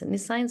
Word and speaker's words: nescience: Nescience is the right pronunciation.